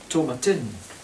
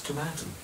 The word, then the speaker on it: Tomatin: there we are now many people have the tendency to pronounce this name tomatin but it's not it's tomato douglas how long were you